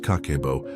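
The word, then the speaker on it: kakeibo: It's called kakebo, pronounced kakebo.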